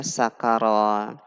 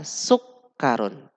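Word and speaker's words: سُكَّرٌ: membaca kata ini ya mungkin kita bacanya sakaron atau sukaro dan semisalnya ya ternyata kata ini dibaca sukarun dengan makna gula dan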